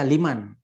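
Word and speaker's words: لمن: gitu di kitab apa tetap dibaca Liman ya Jangan dibaca Limun atau Leman Liman itu apa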